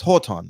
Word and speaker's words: Jordan: No, it's Horton. It's Horton. Because J's and H's, right?